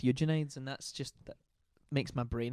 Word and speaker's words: Eugenides: But Virgin Suicides rhymes with Eugenides, and that makes my brain happy a little bit.